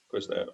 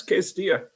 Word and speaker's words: Quis Deo: Yeah, it's Quis Deo.